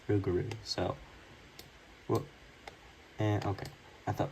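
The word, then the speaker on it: Rougarou: got rugaru or rugaru some people call it raro but it's actually pronounced rugaru so and okay I thought my game froze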